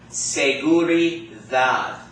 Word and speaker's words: seguridad: Seguridad. The. You got that? Seguridad. Not seguridad. Seguridad. Seguridad. You got that? So the D sounds like the TH in the word the, okay?